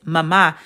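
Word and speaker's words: mamá: And see, it's not pronounced mama, it's mama because the accent is going to make sure that you put more emphasis on the second letter or whatever letter it's over.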